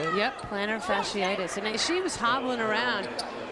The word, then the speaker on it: plantar fasciitis: Yep, plantar fasciitis.